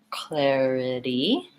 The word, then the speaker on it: clarity: Clarify versus clarity, clarity. I just have a little itty at the end that's tacked on in short.